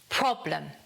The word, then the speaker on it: problem: This word, the stress falls on the first syllable, so it's problem. Problem. Uh. And again, the schwa comes in, not problem, problem.